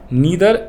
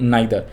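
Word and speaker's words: neither: Revenue में क्या आएगा, नीदर या यू कैन से नाइदर, नीदर या यू कैन से नाइदर। और यहाँ पे आएगा ईदर या यू कैन से आइदर, ठीक है जी, जो आप प्रोनाउंसिएशन यूज़ करना चाहो कर लेना।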